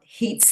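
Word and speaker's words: Haidt: couple slides more about Hate's Theory this is ha AI DT pronounced hate and his theory was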